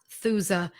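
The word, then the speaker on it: Aethusa: it's an incredible medicine it's spelled a II th us a ah suza the E is silent ah Sousa Sanae is the second word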